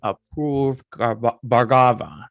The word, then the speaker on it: Apoorv Bhargava: I have Apoorv Bhargava.